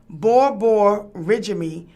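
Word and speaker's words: borborygmi: Borborgian, pronounced borborygmy, a medical term for stomach rumbling and gurgling, in 1958, and the placenta preview in 1959.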